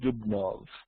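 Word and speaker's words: Dubnow: the Jews in Russia and Poland by Simon dubnov or in spelled no d-u-b-n-o-w but it's pronounced here it is published in English was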